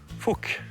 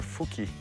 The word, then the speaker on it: Fuck: you're gonna say, wow, it's not Fuch, it's Fuck, because my whole life I said Fuck, because it's F-U-C-K. But where I come from is not pronounced like that. It's Fuch or Fuki.